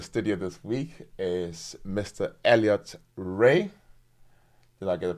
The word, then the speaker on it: Elliott Rae: guest in the studio this week is Mr Elliot Ray did I get the pronunciation right yeah pretty easy name to say